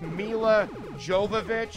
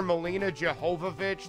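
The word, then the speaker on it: Milla Jovovich: years I've been say apparently it's just Mila Jovovich and I've been calling her Molina jehovovi this whole time I didn't know I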